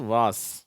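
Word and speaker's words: vase: lace race பேஸ் கேஸ் அடுத்த வார்த்தை அது வாஸ் சரியா இதுவும் அதே மாதிரிதான் வேஸ்ன்னு சொல்லி இருக்கணும் ஆனா அந்த உச்சரிப்பு கிடையாது அதுக்கு அதுக்கு உச்சரிப்பு வாஸ் சரியா மூன்று உச்சரிப்புகள் என்னென்ன முதலாவது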